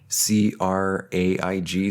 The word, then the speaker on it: Craig: avenue i know it's people say craig but it's spelled c-r-a-i-g so i like to say craig on craig avenue in titsville